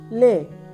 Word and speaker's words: læge: G is softened, but it is also fading sound, fading oo sound.